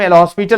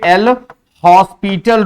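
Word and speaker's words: L'Hôpital: एल हॉस्पिटल, कुछ लोग हॉस्पिटल कहते हैं बेटा, कुछ लोग हॉस्पिटल रूल कहते हैं इसको। तो हॉस्पिटल या हॉस्पिटल दोनों एक ही चीज है। एस साइलेंट कहते हैं होता है, लेकिन ऐसा हुआ नहीं, एल हॉस्पिटल ही बोला जाता है बेसिकली।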